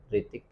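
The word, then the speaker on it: Hrithik: जैसे आपने कई बार देखा होगा ऋतिक रोशन, ऋतिक रोशन में एच पहले आता है, HRITIK, लेकिन हम क्या बोलते हैं? ऋतिक।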